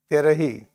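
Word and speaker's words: तेरहवीं: Because this Last Supper, what was celebrated in India in the name of Terahvi, how we pronounce it, Terahi. you can put it doubly.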